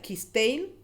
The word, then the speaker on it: Cisteil: Encabezó en Cisteil, se pronuncia Quisteil, el 19 de noviembre de 1761.